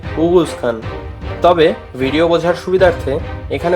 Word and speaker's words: Oghuz Khan: এবং ওরগুজ খানের আসল উচ্চারণ হবে উগুজ খান, তবে ভিডিও বোঝার সুবিধার্থে এখানে ওরগুজ খানই ব্যবহার করা হবে।